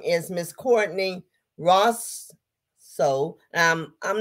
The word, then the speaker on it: Racho: So my last name is Racho. It's like nacho, but with an R.